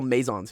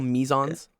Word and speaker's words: meson: okay and mesons yeah we call mazons here I guess you guys call mesons that the British pronunciation yeah amazing Maison it